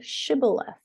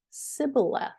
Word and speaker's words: shibboleth: If he said no, they would say, 'Say the word Shibboleth.' The men of Ephraim could not say that word correctly. They pronounced the word Sibboleth.